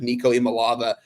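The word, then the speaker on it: Nico Iamaleava: I've heard nothing but positives out of Nico Imalava.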